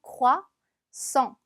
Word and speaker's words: croissant: 자, 보면 쎄와 에흐가 거의 동시에 발음이 나요. 그래서 croissant 이렇게 내주시면 됩니다. 단어 중간에 s가 두 번 붙으면 스처럼 발음 난다고 했어요.